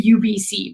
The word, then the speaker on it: Ubyssey: And at UBC, it's called the UBC, but it's spelled like UBYSSEY, like funny.